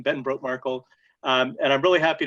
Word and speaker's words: Brotemarkle: much i i really appreciate that and the pronunciation was perfect that that's my name ben broke markle um and i'm really happy to be here